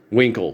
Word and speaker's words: Winkle: Amy told me she was really fond of Mr. Winkle, which rhymes with Dinkle.